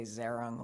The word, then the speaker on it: Zehrung: I say Zerung like Aaron with a Z and a G.